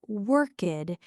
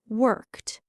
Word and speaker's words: worked: It's not workked. It's a sharp t sound at the end. Worked.